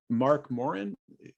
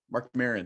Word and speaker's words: Mark Maron: I was just watching a stand-up routine with Mark Morin, the WFT podcast guy. Is that, did I say his name right? Okay. Mark Maron, I think. Mark Maron, thank you.